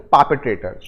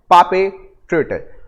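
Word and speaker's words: perpetrator: Next word, इसको pronounce करते हैं पापेट्रेटर। इट इज पापेट्रेटर।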